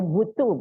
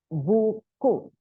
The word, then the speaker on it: buku: Don't say butu but buku by giving positive reinforcement.